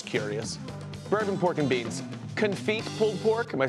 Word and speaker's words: confit: Confit pulled pork, am I saying that right? Sure. I'm not, you're gonna, could you just tell me so I don't say it wrong in the future? Confit.